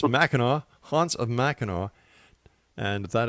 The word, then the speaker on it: Mackinac: dot-com and once again don't make that mistake I made by calling it mack nack it's Mackinac hunts of Mackinac and